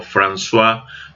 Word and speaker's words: François: el primer gobierno de franco o francois françois de hecho se pronuncia como françois mitterrand en 1981 a 1984